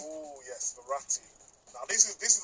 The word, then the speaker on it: Verratti: would that midfielder be i hope i can pronounce his name properly marathi ferretti oh yes verratti now this is this is a proper player